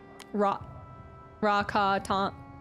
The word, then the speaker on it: Rakatan: It's a soft A. Rakatan.